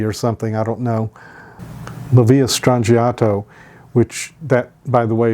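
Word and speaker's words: La Villa Strangiato: hugger in me or something I don't know lvia strato which that by the way is the correct way to pronounce it um means a strange Village or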